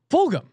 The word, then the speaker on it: Fulgham: my man Travis Fulgham, which no one can pronounce this man's name right. I've listened to every single podcast. Fulgham, right? Fulgham. Fulgham. Yes. Fulgham. Everyone mispronounces this guy's name wrong.